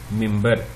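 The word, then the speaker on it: منبر: جو ہے اس کا، وہ آپ دیکھیں گے اس میں حروف مختلف ہیں لیکن تلفظ اس کا یہی ہے، ممبر۔ یہ بھی ہم نے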